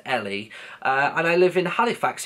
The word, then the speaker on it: Ellie: So, yeah, it's spelled E-double-L-E, but it's pronounced Ellie.